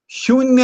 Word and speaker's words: ಶೂನ್ಯ: ಹೇಳುತ್ತೇನೆ ಶೂನ್ಯ ಮತ್ತು ನಿಶೂನ್ಯ ಶೂನ್ಯ ಇದರ ಉಚ್ಚಾರಣೆಯಲ್ಲಿ ಉಚ್ಚಾರ ಅಲ್ಲ ಅದು ಉಚ್ಚಾರಣೆ ಅಲ್ಪಪ್ರಾಣ ಅದು ಶೂನ್ಯ ಅನ್ನುವಾಗ ಈಗ ನೀವೆಲ್ಲರೂ ಮನಸ್ಸಿನೊಳಗೆ ಅಂದುಕೊಂಡು ನೋಡ್ರಿ ಶೂನ್ಯ ಸಕಾರ ಶಕಾರ ಮತ್ತು ಶಕಾರ ಇವು ಸೂಕ್ಷ್ಮ ವರ್ಣಗಳು ಅಂತ ಕರೀತಾರೆ ಇವು ಅವುಗಳನ್ನು ಉಚ್ಚರಿಸುವಾಗ ಬಿಸಿ ಗಾಳಿ ಬರುತ್ತದೆ ಇನ್ನುಳಿದ ಯಾವ ಅಕ್ಷರಗಳಿಗೂ ಬರುವುದಿಲ್ಲ